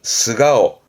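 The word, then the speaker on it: 素顔: 발음은 스가오. 가오인데 땡땡부터 니고리부터 발음됩니다.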